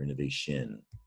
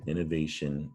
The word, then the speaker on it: innovation: t i o but it's not pronounced the way it looks we pronounce it shun or maybe shin depending